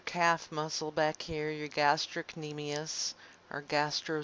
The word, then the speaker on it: gastrocnemius: gastrocnemius knee meais and what i've heard students do is they say gastro seen amias and because that's not how you actually pronounce it but they they do it like that they do it like that so they can remember there's a sea and gastrocnemius and not call it gastro knee meais on accident so they